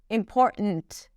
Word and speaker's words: important: It's not a held T when she pronounces it, it's just 't' - 'important', 'important'.